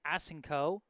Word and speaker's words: Asenko: Let me know that number 12's last name is pronounced Asenko.